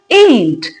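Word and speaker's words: ain't: So this is pronounced as एंट।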